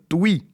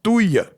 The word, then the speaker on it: Touy: En écho à cette fameuse taxe lapin, je vous annonce la candidature d'Hélène Touy, et on ne prononce pas Touille, du parti animaliste qui